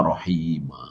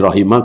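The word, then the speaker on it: رحيما: Wakana bil mukminina rahima. Ini rahima karena ada kana khabar kana apa? Mansukub. Ya. Kalau wakana bil mukminina rahim ya salah. Salah secara pengucapan.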